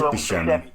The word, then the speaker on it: Buscemi: Is that the pronunciation? It is Buscemi.